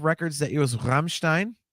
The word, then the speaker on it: Rammstein: One of my top 5 records that year was Rammstein. That's the correct pronunciation, by the way, if you speak German.